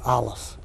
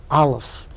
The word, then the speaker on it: Aleph: It is not, as most people mistakenly think, a silent letter. It is, as Gershom Scholem, the master historian of Jewish mysticism, points out, the sound that the larynx makes as it clicks into gear.